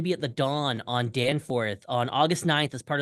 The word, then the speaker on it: Danforth: when you're in Toronto learn how to say Danforth I was not calling it Danforth I was calling it Dawn forth I'm so sorry um